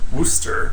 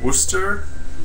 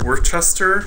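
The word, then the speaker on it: Worcester: was just at the sewing expo in uh wooster wooster i'm not very good at saying it it's spelled worked worse worchester but it's not pronounced that way here in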